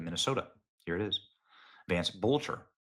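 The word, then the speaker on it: Boelter: Look at that, Vance Boatler. In case you're wondering if that's forged or fraudulent, here's the official documents of the Secretary of State of Minnesota. Here it is. Vance Bolter. Bolter.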